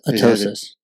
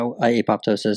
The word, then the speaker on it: apoptosis: A lot of people will also pronounce it as atosis. Yeah. So the P is silent. Yeah. Maybe it. I don't know. I have always heard it that apoptosis.